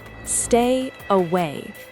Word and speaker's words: stay away: Pronunciation, stay away. The stress is on away.